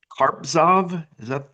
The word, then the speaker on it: Carpzov: But this book was written by a German scholar, Johann Gottlob Carpzov. Am I pronouncing the name correctly?